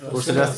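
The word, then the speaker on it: procerus: মাসেলটা হলো প্রসেসেরা আমরা সবাই একটু দেহে আমরা উচ্চারণ করে ঠিক করে নিব প্রসেসেরাস এই জায়গায় প্রসেসের প্রসেসেরাসটা আছে গ্লোবেলা গ্লোবেলা হচ্ছে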